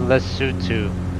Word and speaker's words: Lesotho: tomorrow we're flying this leftovers tomorrow it's actually pronounced in lesotho oh let's see okay we're going there as